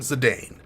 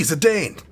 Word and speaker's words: Zidane: I'm going to call him Zidane. Why? Because Bane, Zidane.